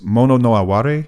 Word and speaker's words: mono no aware: this Japanese concept I'm going to butcher the pronunciation because it it's tough to translate it's mono no aware I think is how you say it it's